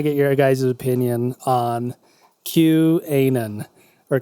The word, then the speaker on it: QAnon: your guys' opinion on Q-Anon, or Q-Anon, I guess is Anon, like anonymous. as it's pronounced in some circles.